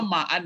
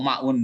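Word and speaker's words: ماءً: Coba Ibu Sabrina, kenapa ma'an ini dibaca? Wa'an. Ya kok ma'in aja salah. Kok ma'un, guys? Ma'an. Sama'i ma'an.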